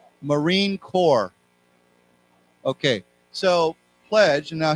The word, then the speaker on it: Marine Corps: a reminder this word we do not pronounce the P we don't say corpse we say core CEO like cor okay